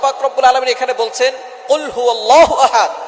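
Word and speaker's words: قُلْ هُوَ اللَّهُ أَحَدٌ: আল্লাহ পাক রাব্বুল আলামন এখানে বলছেন কুলহু আল্লাহু আহাদ। এখানে কফ দিয়ে পড়ছেন কিন্তু অনেকেই ভুল করে উচ্চারণ সঠিক না হওয়ার কারণে তারা পড়ে কাফ দিয়ে।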